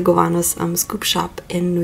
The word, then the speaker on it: Gowanus: is only available at the goat Cavanaugh's sorry I I know I pronounced that wrong at the Gowanus I'm scoop shop in